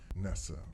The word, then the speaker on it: Nesa: because I should have asked you the proper pronunciation of your first name I would have said nasty Nessa Nessa Nessa okay please tell us a little bit about